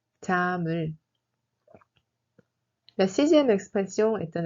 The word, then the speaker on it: 잠을: On prononce 잠을 comme 잠을. 잠을.